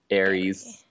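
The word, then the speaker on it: Aeris: Yeah, it's A-E-R-I-S, like Ariel, but Aries.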